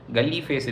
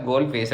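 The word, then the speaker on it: Galle Face: இதை வந்து ஆனால் வந்து ஸ்ரீலங்கன்ஸ் எப்படி ப்ரொனவுன்ஸ் பண்ணுறாங்க அப்படின்னா தமிழ் பீப்புள் அண்ட் சிங்கிலீஸ் 2 பீப்புளுமே எப்படி ப்ரொனவுன்ஸ் பண்ணுறாங்க அப்படின்னா கோல் ஃபேஸ், கல்லி ஃபேஸ் இல்லை கோல் ஃபேஸ் அப்படின்றாங்க அந்த ஏரியா பேர்.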